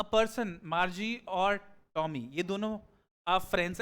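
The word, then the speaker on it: Margie: ma'am thank you ma'am आपने देखो मार्जी pronounce करते हैं but different people can pronounce it differently है ना लेकिन प्रोनंसिएशन जो जनरल प्रोनंसिएशन है इसका जो गिवन है व मार्जी है एनीवे आगे चलते हैं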